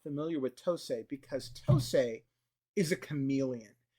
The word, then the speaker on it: Tosei: Tosei. Mm-hmm. Is that how it's pronounced?